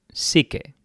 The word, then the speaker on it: SIKE: Bueno, yo creo que se pronuncia así en español, igual en inglés lo pronuncian psyche, como la psique, la psicología, ¿no? Pero bueno, Psyche, lo vamos a dejar en Psyche en español.